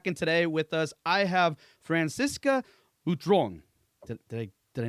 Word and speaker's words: Francisca Butron: Hey everyone and we're back and today with us I have Franciscoca Utron. Did Did I Did I nail that pronunciation right?